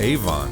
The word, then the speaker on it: Avon: failed effort welcome to evan fields evan field golf course which may have been pronounced avon back in the early days as a country club